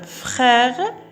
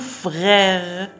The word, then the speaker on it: frère: إذن هنا لاحظوا نفس الآر، هنا تقرأ خ وهنا غ frère، لأنه عند النطق لا نستطيع أن نقول frère فتكون نوعا ما ثقيلة فنقول frère.